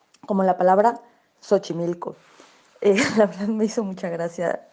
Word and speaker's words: Xochimilco: de los canales de xochimilco pero dije xochimilco pronunciando la equis como la che y no como la s que es como se pronuncia bien es normal estas equivocaciones